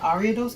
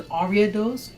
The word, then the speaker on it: Ariados: And by the way, that Ariados actually has two official pronunciations of its name. There's Ariados and then there's Ariados. You know, pick your poison on the pronunciation.